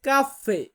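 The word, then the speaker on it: caffè: বলা হয় না এটাকে যেমন আমরা বলি কফি ওরা বলে কাফফে কাফে মানে সাউন্ড কিন্তু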